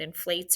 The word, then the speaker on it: inflate: We don't want it to say in flat, so we need that silent E in the base word.